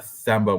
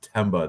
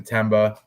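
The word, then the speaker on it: Themba: the and it's not thba with a th it's TBA the H is silent I'm taking TBA out of Zimbabwe the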